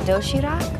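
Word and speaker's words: 도시락: healthy variety of neatly packed food it's called doshirak yes am i pronouncing that right you're very good you can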